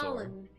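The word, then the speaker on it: Khalan: it's Colin Kaltor. Colin. K-H-A-L-A-N. Colin. Ugh. It's even worse when it's spelled correctly.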